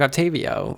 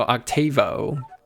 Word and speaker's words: Octavo: This may help you stock Octavio, or not Octavio, Octavo. Because, you know, missing a syllable for whatever reason.